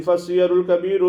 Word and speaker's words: السير الكبير: وحينئذ فالسير الكبير بكسر السين وفتح الياء على لفظ الجمع، لا بفتح السين وسكون الياء على لفظ المفرد، كما ينطق به بعض من لا معرفة له.